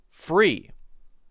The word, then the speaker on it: free: Now the difference here is when I make the R sound, I curl my tongue up and back. It's kind of straight up toward the roof of my mouth. And when I say the L sound, fl, I'm actually touching my tongue behind my teeth.